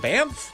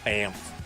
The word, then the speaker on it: Banff: Chelsea's back from Banff. Glad I can say that correctly. Banff. I had to pronounce that, practice that before the show.